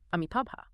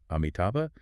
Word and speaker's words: Amitabha: of a single name, Amitabha. Right. Showafin contrasts two different ways to pronounce just the very first letter, the A. Yeah, you can pronounce it as ah, or you can pronounce it as A.